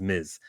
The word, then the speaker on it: Ms.: If you want to mispronounce her name, it's Miss Marvel. That's the wrong way to say it. The correct way to say the two-letter word is Ms.